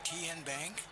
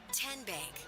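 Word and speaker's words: TN Bank: How do you say the name? Ken Bank. Nope. Kin Bank. Uh-uh. So, what is it? 10 Bank. 10 as in Tennessee.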